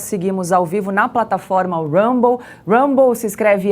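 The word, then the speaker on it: Rumble: 26 minutos nós seguimos ao vivo na plataforma Rambo Rambo se escreve r u m b l e você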